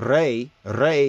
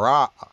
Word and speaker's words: Re: It is said that Re, who some mispronounce and call Ra, right?